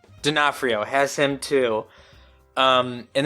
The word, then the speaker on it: D'Onofrio: has Rucker Hower and Vincent diorphono did I say his name right diaphrio D'Onofrio has him too um